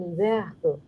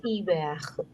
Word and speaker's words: hiver: Now this is silent H, so it would carry forward the sound of last N. The sound of EN is en. So this is hiver. Hiver. Hiver. So it would become en hiver.